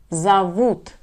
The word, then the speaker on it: зовут: Зовут. Here we have stress on the letter у.